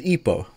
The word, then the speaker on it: Hippo: This is Ipo. And his name is spelled Hippo, but in French... They don't say H's in French, so he's called Ipo.